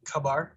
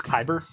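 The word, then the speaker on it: Khyber: have handles put on i think you're mispronouncing that it's khabar it's kyber yeah there you go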